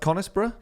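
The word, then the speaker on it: Conisbrough: the money thing so is it is it pronounced conisborough in Yorkshire yeah okay so there's a place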